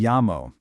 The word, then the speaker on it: llamo: Do you see that double L right there? In Spanish, that double L is pronounced softly, almost like a Y or a very soft li in English. So it sounds a lot like mi llamo.